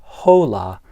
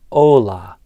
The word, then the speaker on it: hola: One is that I didn't pronounce the H. So, it's not hola, but hola.